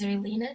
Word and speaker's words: Xerlina: And on Twitter, my name is Zerlina Divine. So Zerlina is spelled with an X. So XERLINA.